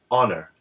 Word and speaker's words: honor: the word honor but because the H is silent here the first sound is actually an ah sound honor ah which is a